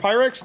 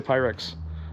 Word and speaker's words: Pyrex: How do you say Pyrex? Pyrex. Pyrex. Pi and Rex.